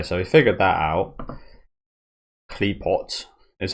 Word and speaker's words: Qliphoth: It's definitely Klee. What is off? Off? Is it like a silent H or no? We'll see if we can Google it quickly just before we get in. How to pronounce the... Okay, it's one of the first results that come up. What the fuck is this? Qliphoth. So it's apparently a silent H, it looks like.